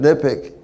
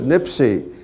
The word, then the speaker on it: NIPCC: what it is now it's pronounced in various ways i pronounce it nipik uh joe bass pronounced it nipsey nipsic i i don't know